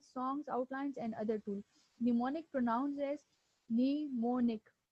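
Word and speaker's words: mnemonic: करना okay व्ट इज निमोनिक इसमें जो एम है वो इनिशियल वाला य एम जो है व साइलेंट है निमोनिक आल्सो नोन एस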